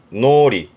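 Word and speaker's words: 脳裏: 뜻은 뭐 한자 그대로 머릿속인데 발음이 노리.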